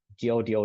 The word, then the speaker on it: Godot: change it to goo g o o t where the t is silent in this play and